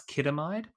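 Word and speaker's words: chidamide: So the Capability 01 study, or Capability 01 study, is a phase 2 clinical trial of sintilimab plus kidamide. That's CHIDAMID. And yes, we did check the pronunciation for that.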